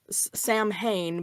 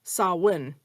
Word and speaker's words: Samhain: And so Samhain, Sam Hain becomes Samhain. You're not fully making the M, and you're kind of blowing through it. So Samhain.